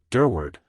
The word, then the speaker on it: Durward: so strongly about me durward when he used my surname he always accented the second syllable very strongly all you have to